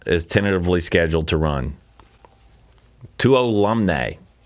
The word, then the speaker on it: Tuolumne: early June, and the Tuolumne Meadows shuttle is tentatively scheduled to run. Tuolumne is the proper pronunciation. I think it's pronounced Chapatulis. Spelled Tuolumne, pronounced Chapatulis. Tuolumne. I think that's it.